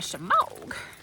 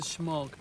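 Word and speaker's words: shemagh: Uh Let me get my shamogas has so many uses. And yes, that is how you say it. Naysayers out there. Oh, it's a schmog. No, it's a shamog.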